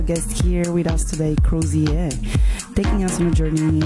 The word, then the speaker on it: Crozier: with a very special guest with us today crosier did I pronounce this well yeah yeah that's perfect cier welcome welcome and we will be together until 400 p.m.